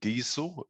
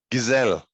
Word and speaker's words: Gesell: have with me somebody from imagine growth alexander diesel which i understand is that the correct pronunciation alex diesel gazelle there we go that's a great start i've